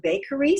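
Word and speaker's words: Baqery: really good it's called the bakery spelled with a queue so the b-a-q-e-r-y uh and and the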